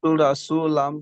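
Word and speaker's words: رسول: পেশ লুম রাসুলুম রাসুল হবে না র সবসময় উচ্চারণ করার সময় ঠোট দুটো গোল হবে রাসুলুম রাসু রাসু না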